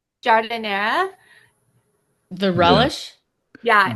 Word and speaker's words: giardiniera: I know I'm getting some vanilla bean, blackberry jam, blueberry jam, pasta sauce, and the garden, how would you say like Giardiniera.